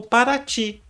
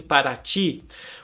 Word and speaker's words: Paraty: Foi percebido que existem várias tonalidades para a pronúncia do I para os indígenas, e cada uma delas tem um significado diferente. O Y é mais próximo à pronúncia que eles usavam para designar algo no território.